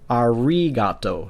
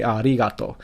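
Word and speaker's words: ありがとう: let's just say that you would not pronounce this as arigato. You wouldn't make a Japanese ri. You would just say arigato. And so it's almost like an L. So if I were to pronounce it with the L, I'd say arigato. So it's almost like an L, but not quite.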